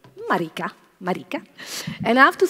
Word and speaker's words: Marika: And Marika or Marika? How do you say? Marika.